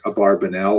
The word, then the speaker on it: Abravanel: abarbanel the father of Don Isaac abarbanel also pronounced probably more correctly Abravanel um and he was